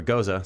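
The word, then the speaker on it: Gose: So this is a goes or goza. Some people pronounce it, but we're going goes style Goze. beer. Goze. Goes is proper.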